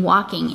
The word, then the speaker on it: walking: a little pointer here the silent l in walking is new in this lesson so that l is silent let's mark it then